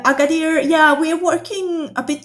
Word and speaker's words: Agadir: the town is called agadir is that how you pronounce it agader uh agader yeah we're working a